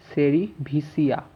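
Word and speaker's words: cerevisiae: এটা উচ্চারণ করবো স্যাকারোমাইসেস, SACHAROMYCES, সেরিভিসিয়া। তাহলে বানানটা ঠিক হবে, সেরিভিসিয়া, স্যাকারোমাইসিস সেরিভিসিয়া।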